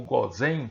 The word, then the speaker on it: Gósen: Sim, tem a ver com o Rio Nilo, Delta do Nilo, onde ali, biblicamente, nós temos a terra de Gozen, ou Gozen, como alguns preferem pronunciar, terra de Ramsés.